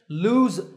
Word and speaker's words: lose: going to fall off to recap the pronunciation lose has a zip sound at the end and loose has a sound at the end lose loose number two is the